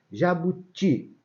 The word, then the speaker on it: jabuti: Jabuti. O ti é forte.